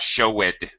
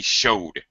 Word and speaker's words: showed: I show it right it came out show it but it should be showed one syllable one sound showed one beat I showed something ah